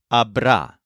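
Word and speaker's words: habrá: of a the word Abra this is similar to EST and S with a stress on the syllable ra it's slightly irregular though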